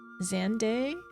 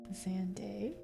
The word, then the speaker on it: Xande: Xandday. Okay. Thank you. Thank you. Thank you. I'll write that down. Xande.